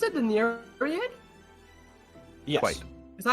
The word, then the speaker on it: Nereid: She kind of like takes a knee by the face of how do you pronounce it? The Nereid? Yes. Quite. Is that how you pronounce it? Nereid?